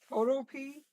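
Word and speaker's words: Photopea: thumbnails, I'm using it's Photo P, but it's pronounced photo like in photo, and then P like the vegetable, PEA.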